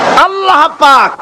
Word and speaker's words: আল্লাহ: উচ্চারণ হচ্ছে আল্লাহ মুখটা একটু গোল হয়ে যাবে বলেন আল্লাহ আল্লাহ সুবহানাল্লাহ পৃথিবীতে বিভিন্ন